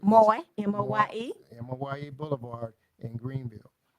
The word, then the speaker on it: Moye: The VA clinic is at 401 Moore, I think I pronounced that right. Moye, M-O-Y-E.